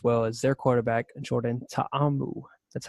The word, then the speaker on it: Ta'amu: Josh Gordon, he's out for 4 weeks for the Bengals, as well as their quarterback, Jordan Ta'amu. That's how you pronounce that, by the way, the Hawaiian name.